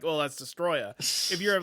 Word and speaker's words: Destoroya: Destroya, even though that's not how his name is spelled in English. Yeah, no. Destoroya.